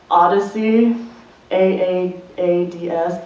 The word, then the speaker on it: AAADS: someone I know named step Kong it's actually pronounced Odyssey a a a DS Odyssey okay yeah wow so we're involved in mentorship